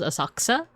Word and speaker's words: Asakusa: It was Asakusa. Asakusa or like as the locals will probably pronounce it as Asakusa.